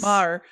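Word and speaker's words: Maher: Alana Mar. Yes Mar.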